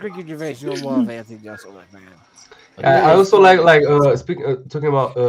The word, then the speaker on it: Jeselnik: I'm still hearing Jism Neck. Jeselnik.